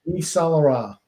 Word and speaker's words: Yves Saint-Laurent: Grump, I'm gonna need you to pronounce this one more time for me. Yves Saint-Laurent.